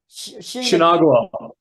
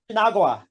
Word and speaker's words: Shu-Nagua: because haven't got a hope in hell of pronouncing the band name. So what was it? Shinagua. Shinagua. Shinagua, yeah, yeah. You should bloody spell it like Um, that, and so it's easier to say. yeah, Shunagua.